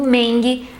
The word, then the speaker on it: Mengele: Morte, que era Josef Mengele ou, mais conhecido como Mengele, na pronúncia alemã.